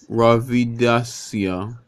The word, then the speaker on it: Ravidassia: Rastafari so the next one it is cold Ravi Dasia Ravi - yeah which is spelled Rav ID a SS ia and it